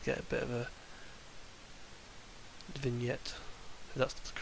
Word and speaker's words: vignette: face here and get a bit of a vignette that's the correct way to say it and